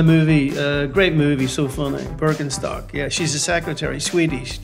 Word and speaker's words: Birkenstock: Okay, so the thing is, it's a German brand. And as a person who was born and raised in Germany, I definitely know that it's Birkenstock. Might be weird to you guys, but that's how we say it in German.